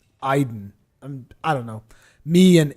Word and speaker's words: Aiden: this pronunciation was weird i thought that because the name is basically a-i-d-e-n i thought it would be aiden but it's iden i don't know me